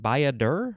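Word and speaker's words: baiadere: bacca now we have baiadur i think that's how it's pronounced by a der or a y a d e r e it is a noun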